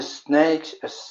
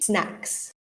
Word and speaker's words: snacks: It would be snacks. So it's an ack at snacks. the end. Yeah. Snacks. Yeah, much better than snakes.